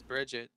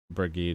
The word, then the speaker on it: Brigitte: I thought her But- name was Bridget. Brigitte is actually the proper like pronunciation for it apparently, How but like fucking weird.